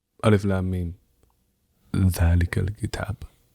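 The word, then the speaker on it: ذٰلِكَ الْكِتَابُ: because the biggest pet peeve of mine, okay, is not pronouncing things correctly, like Quranic stuff, right? Yeah. And so, like Alif Lam Mim, Dhalikal Kitab, not Zalikal Kitab, right?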